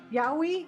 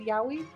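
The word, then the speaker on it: yaoi: Yahi. That's how you say it. Yahi.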